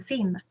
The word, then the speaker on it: Fismes: The battle is said to be coming to an end, just before we were in Fimes. Herr Mayer pronounced Fismes.